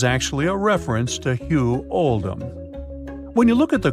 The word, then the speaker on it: Oldham: was made to reflect the pronunciation of oldum in the local accent which is alom accordingly paying respects to